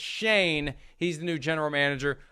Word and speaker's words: Schoen: how to pronounce it is it shine is it shown is it shun it's shane he's the new general